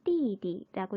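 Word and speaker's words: 弟弟: 같은 글자를 두 번 반복하고 두 번째에 있는 그 발음을 경성으로 한다라고 했었죠. 남동생 아오제자를 두 번 반복해서 띠디라고 읽습니다. 띠디.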